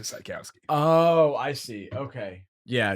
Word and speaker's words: Czajkowski: So in Polish, it's Sykowski, but my family's Americanized it to Sykowski.